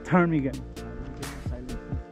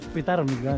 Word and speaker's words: ptarmigan: Okay, PTARMIGAN. Silent P. Silent P. Filipino, PTAR. PTARMIGAN.